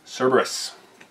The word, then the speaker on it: Cerberus: Cerberus. Yes, thank you for saying that, because I knew I was going to say it wrong. You were. Deploying Cerberus.